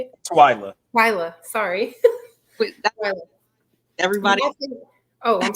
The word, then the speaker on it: Twylia: Twylia.